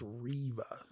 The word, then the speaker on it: Reva: It's Reva. Okay, Reva, yeah. But I'm getting kicks out of it because he says her name wrong every time. Is it actually Riva or is it Reva?